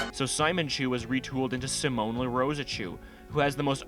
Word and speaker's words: Simon: Okay, so you're probably wondering when the hell we get to Simone. Well, Evan was a fan of Gurrenlagann, I have no idea if I'm pronouncing that right at all, and decided it